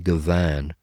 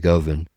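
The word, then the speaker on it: Govan: Uh, another one, okay, uh, uh, probably nobody ever listens to is, uh, Guthri Goan. Uh, probably just butchered his name. It's Guthri Govin.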